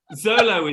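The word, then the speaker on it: Xolo: Zolo is what it is.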